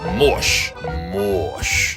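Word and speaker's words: mouche: tap slap mush means fly and it is pronounced mosh so when you are camping in the province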